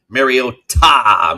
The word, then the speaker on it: Mariota: Also, helping everyone with their pronunciation of Mariota. Make sure we always emphasize ta.